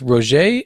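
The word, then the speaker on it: Rogge: He has Rabia, I think it's Roger is how you pronounce her last name, as the pilot.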